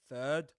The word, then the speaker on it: third: First, FIRST, if I'm not mistaken. You've got the IR. First, then third. THIRAD. Or, yeah, THIRD actually. So you've got first and third, and you pronounce that with a vowel sound.